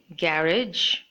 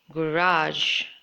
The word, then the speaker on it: garage: One way of pronouncing is garage, and the second way of pronouncing is garage.